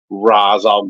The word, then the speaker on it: Ra's al: a lot of time I hear a lot of variations on how the name is pronounced it's raal gou or rash shal